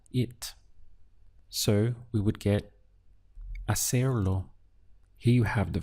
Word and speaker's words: hacer: verb to do is a ser you can see in the spelling we have an H but in Spanish pronunciation the H is always silent it's ignored so your pronunciation really